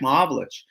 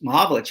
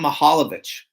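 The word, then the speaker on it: Mahovlich: he would intentionally mispronounce his name. He would call him Mahalovich and uh and that really bothered Frank.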